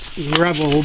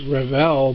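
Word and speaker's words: Revell: some people call it Rebel but it's not it's Revel because it has two L's you pronounce it Ravel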